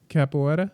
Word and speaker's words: capoeira: is martial arts i'm not sure how to pronounce it how do you uh capoeira capoeira yeah okay capoeira got it yeah it's amazing